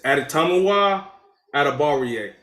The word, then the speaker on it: Adetomiwa Adebawore: It's okay, It's Adetomiwa Adebawore.